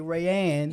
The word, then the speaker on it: Raeanne: Raeanne Yes.